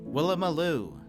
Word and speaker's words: Woolloomooloo: How to say pronunciation. Oh, perfect. Woolloomooloo? Is that it? Woolloomooloo? Woolloomooloo.